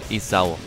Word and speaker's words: Esau: Ich soll nicht Esso sagen, ne? Ich soll ihn nicht so französisch aussprechen. Esau. Ist ja auch richtig. Ist ja einfach ein Name aus der Bibel und die wurde nicht französisch ausgesprochen.